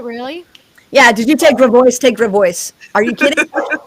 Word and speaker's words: Gravois: So, for example, there's a street called, it's spelled Grav as in Victor, Ois. And if you speak French, it'd be Gravois, right? Right? They call the cultured among us Gravois. Oui? Instead, it's Gravois.